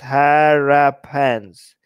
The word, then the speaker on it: Harappans: The West Asian migrants were the Harappans, pronounced Harappans. Ha! They rap in their pants. Okay, I'm going to remember it like that. Think rapper with the A when saying okay, Harappans.